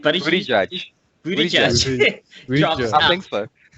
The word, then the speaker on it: Buttigieg: So then just before Super Tuesday, I think Pete Buttigieg, how do you pronounce his name? Buttigieg drops out.